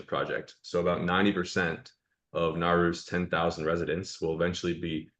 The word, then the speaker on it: Nauru: So the Pacific island nation of Nauru, or yeah, I believe I'm pronouncing that right, Nauru, Yep.